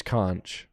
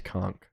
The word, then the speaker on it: conch: It's pronounced conch shell. Hold on. Not that I don't trust you. Ah, American versus British. British is Kunch. American is conchk.